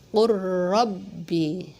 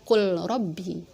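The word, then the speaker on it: قل رب: Jadi bacanya qur rabbi, enggak dibaca qul rabbi, gitu ya. Qur rabbi, seperti itu.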